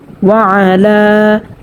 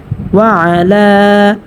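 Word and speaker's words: وَعَلَى: এখানেও কিন্তু সেমটা হয়েছে, এই যে পূর্বে আমি বলেছিলাম ওয়ালা, এখানে আইনটা স্পষ্টভাবে উচ্চারণ করতে হবে এবং লাম খারা জবর লা একালি পরিমাণ টানিয়ে পড়তে হবে, মধ্যে তবাই হয়েছে। ওয়া আলা।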